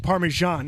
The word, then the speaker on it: Parmesan: Like Parmesan ends with an N.